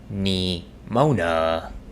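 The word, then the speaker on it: Nimona: you spell that uh it's n i m o n a like NE Mona like that oh okay yeah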